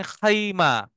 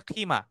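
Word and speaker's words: خيمة: মানে লোগাতুল আম্মিয়াতে বলে খিমা শুনছেন না সবাই শব্দটা খিমা আপনারা শুনে খিমাতে থাকতেছি এই খিমা হচ্ছে বেসিক্যালি খাইমা এটার ক্লাসিক্যাল উচ্চারণ হচ্ছে খাইমা কিন্তু ওরা যখন পথ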